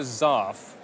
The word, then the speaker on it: zarf: It's known as a Zarf. That's spelled Z-A-R-F.